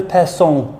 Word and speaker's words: personne: In the incorrect clip, I pronounced it as person.